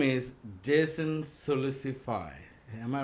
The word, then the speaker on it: Sulisufay: His name is Jason Sulicipa.